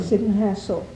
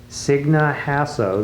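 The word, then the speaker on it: Signe Hasso: This is Dorothy Bell, and her daughter Martha co-starred with, how do you pronounce her name? Sidney Hassel. Signa Hasso, the Swedish star that I hadn't heard of until just this minute.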